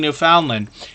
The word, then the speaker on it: Newfoundland: cooking, hiking, and exploring Newfoundland. And that can be pronounced a couple of different ways, but Newfoundland is the most common way that we hear it around here.